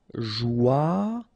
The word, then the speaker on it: joyeux: Final X not pronounced, and then joyeux. Okay? Joyeux. Joyeux. Nuageux. Final X not pronounced, and then G-E-U, je.